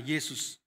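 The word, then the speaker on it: Jesús: banyak yang diberi nama Yesus lebih tepatnya kita membacanya Yesus Yesus dan istrinya ingin sekali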